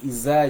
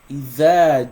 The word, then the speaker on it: إذا: So if you are saying iza jaa, it means you are pronouncing this the like a za, which is wrong. There's nothing like iza jaa. That's wrong. Nothing like iza jaa. It's either. So إذا جاء, right?